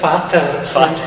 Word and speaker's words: Vater: Vater. Un F. Cando vexades un V, pronunciarlo como un F.